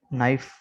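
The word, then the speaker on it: knife: तो rule number 1 बता रहे हैं कि के is silent in the following words, कि दर्ज झेल अल्फाज में के साइलेंट है। ठीक है, ये देखें के को रेड से हाईलाइट किया है। नाइफ, नी, नॉट, no, knock, night, knob, नील। ठीक है, के सब में साइलेंट है।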